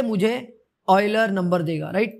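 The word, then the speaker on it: Euler: वाले हैं वो है ऑयलर्स कांस्टेंट, ठीक है। ये इसको ऑयलर प्रोनाउंस करते हैं, ठीक है। इनकेस अगर आपको पता नहीं है तो ऑयलर, ठीक है, ऑयलर, ठीक है।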